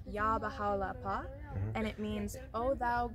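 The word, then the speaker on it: Yá Bahá'u'l-Abhá: the same in every Temple um and it's pronounced yah bahala and it means oh thou Glory of glories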